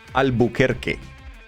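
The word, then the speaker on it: Albuquerque: It should be Albuker. Not Not Kirk. No. Albuker Americans thought they were French.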